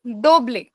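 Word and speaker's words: doble: इज डोबले डी ओ बी एल ई इज दोबले उबे दोबले एकजेक्टली और वी का pronounce होगा उबे उबे हां दोनों में से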